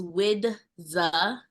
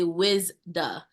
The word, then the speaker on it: Widza: full name is widza so the D comes before the Z ever since I was young anytime I would say my name is widza and people would see my name on paper they automatically say wizda so I'm like that's not it it's wi the but